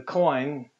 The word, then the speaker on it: Koine: let's just put the coin here and i literally pronouncing it just as we do the word coin so there's our coin